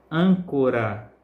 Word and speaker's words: âncora: circula com mais intensidade exemplo Âncora hum é a sílaba mais forte da dessa palavra árvore ar é a sílaba